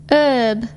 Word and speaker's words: herb: Silent H. H is not pronounced at the beginning of many words. Use the article an with unvoiced H. Here are some of the most common: hour, honest, honor, air, herb.